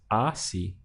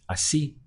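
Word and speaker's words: así: accent so obeying the default rule I would pronounce this as Aussie Aussie because I only have two syllables to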